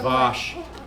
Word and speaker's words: vache: Pronunciation. You're weird. Well, the word for cow is like Weirdo. so. Vache.